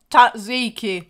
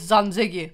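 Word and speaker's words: tzatziki: that pronounce it wrong it's not tatziki tziki it's Zan zigi so come again for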